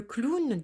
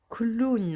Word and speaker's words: clown: ww2 ici nous avons le clown ans le clown donc ici au w on va là prononcé comme si on avait un ou deux corps le clown ont donc je vais écrire encore une fois